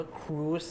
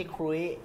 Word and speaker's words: cruise: ๆ ๆ ๆ ๆ คือ เรือ สำราญ เนี่ย มัน อ่าน ว่า ครูส นะ ไม่ ใช่ คุ้ย อ่า อ๋อ ที่ เ